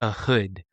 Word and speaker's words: Ehud: And what we are talking about is the story of a hood. A hood. It's spelled E H U D.